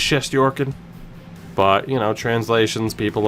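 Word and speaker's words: Shesterkin: we'll catch you later goaltender is just your kid which is the proper way to say it you can go she's jerking or chefs tricking it is just Yorkin but you know translations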